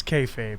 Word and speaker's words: kayfabe: time as a universe you know the you pronounce it kayfabe right I'm not crazy yes it's kayfabe thank God because I know I I I said kayab one time and someone got real snoody with